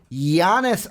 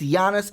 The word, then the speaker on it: Giannis: Because we love talking about Giannis Antetokounmpo. See, I didn't do the hard G. Yep. I didn't give you the Giannis. No, it's Giannis Antetokounmpo. No Giannis here.